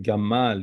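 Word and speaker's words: גימל: say the sound is you hear this sound like Gamal you see here how the hump of a camel this is how it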